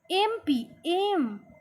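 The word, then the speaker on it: MP: এইবার এমপি, এ উচ্চারণ হচ্ছে এমপি। এ যখন উচ্চারণ হবে, তাহলে দেখেন, my father is dash এমপি, তাহলে এমপি উচ্চারণটা কেমন হচ্ছে? ভাওয়েলের মতো লাগছে না?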